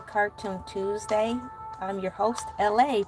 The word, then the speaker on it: Elay: I'm your host LA, pronounced like LA like the city.